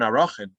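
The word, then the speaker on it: Arakhin: And then the other very interesting passage is from that same Gemara in Arachin. I should say Erchin is the way most people pronounce it. I apologize for my hyper-correct pronunciation.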